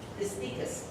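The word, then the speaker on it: distichous: These are distinguished by 1 or 2 flattened leaf pseudobulbs, usually subtended by disticus. That's how you pronounce that one.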